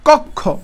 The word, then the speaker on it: কক্ষ: এই ক্ষীয়টা যেহেতু শেষে আছে, তাহলে তার উচ্চারণটা কিরকম হবে? ওই যে বলছিলাম ক প্লাস ওকার, ক প্লাস খ ওকার, কক্ষ, এই যে ভাবে কক্ষ।